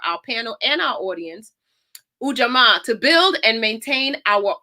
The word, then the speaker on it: Ujamaa: used to hear a dance teacher say it's Ujamaa. I'm like, okay, I got it. I got it. So Ujamaa, I'm going to read the definition again for our panel and our audience. Ujamaa, to build and maintain our own stores, shops,